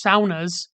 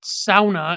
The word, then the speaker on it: sauna: You can experience it in the Finnish saunas. That's right, the Finnish pronounce it sauna, and so do Yoopers.